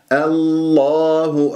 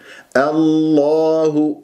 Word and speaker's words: الله: افخم الدال وعد الله الله ركزوا دائما على نطق اسم الجلال الله باللام المفخمه لا تكور الشفاه الله الخطا الله خطا فانتبهوا هو مرققه نضم